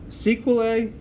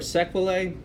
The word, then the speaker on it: sequelae: all right and then sequel a or sequelae either way you can pronounce it's fine by me these are if you